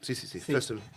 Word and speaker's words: Foessel: ¿Fössel es tu apellido? ¿Lo pronuncié bien? Sí. Fössel. Fössel, sí.